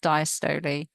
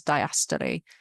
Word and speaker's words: diastole: And when it relaxes, we have diastole, which I've heard some Americans pronounce as diastole. So diastole is how I heard it pronounced usually in the UK.